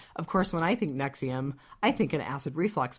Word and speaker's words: NXIVM: Okay, so I totally need to learn about this cult because, of course, when I think Nexium, I think an acid reflux pill.